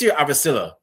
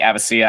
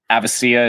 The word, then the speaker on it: Avecilla: can call me Avisilla, you can call me Avisia. I I I think Avisia is like the correct way to pronounce that, but like if you were to call me Avisilla, that that'd be fine, too.